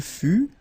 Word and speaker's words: fut: Il fut, final T not pronounced.